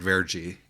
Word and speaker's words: verde: the same reason that Verde is pronounced vergi you know uh so